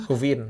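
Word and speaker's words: kvindek: Queen deck, bacanya bentar. この世界での350円はトリツェント、クヴィンデク、 Kuvin. エノイ。 V-nya dibaca. V-nya keras, bukan queen tapi kuvin.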